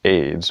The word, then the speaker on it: Ayds: loss choose pictured above ayds pronounced AIDS was an appetite suppressant